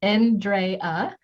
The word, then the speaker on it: Andrea: Andrea, pronounced N-drey-uh, is a registered nurse, holistic health practitioner, and best-selling author and life and mindset coach.